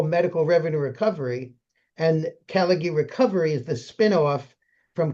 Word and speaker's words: Callaghy: Well, anyway, Tom here is with a company called It's called Caligie. Is that how you pronounce it? Caligie Recovery is the is the company the spin-off uh that exists now.